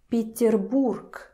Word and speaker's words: Петербург: But pay attention how I'm pronouncing this word. Peterburg. Peterburg. K, k. You hear it's not Peterburg. Peterburg. It's even physically difficult to pronounce. Peterburg. Takes too much effort from your throat. Peterburg. No. That's why the voiced consonants in the end of the word turns to the unvoiced consonants.